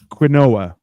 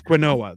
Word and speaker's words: quinoa: That's quinoa. They're like, no, it's quinoa. I'm like, no, it's not. You're pronouncing it wrong.